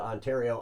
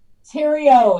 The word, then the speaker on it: Theriault: it the right way Tero it's French Canadian I'm not French Canadian